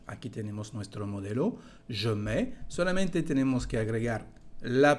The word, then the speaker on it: mets: Je mets. Como lo pueden escuchar, no se pronuncia la parte final de este verbo. Je mets, tu mets.